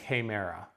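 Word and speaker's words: ἡμέρα: We don't have an H sound separately. The rough breathing mark, it's that forward-facing apostrophe, or single quote is better, there you go. And forward-facing is going to give you that, and so I end up with hemera.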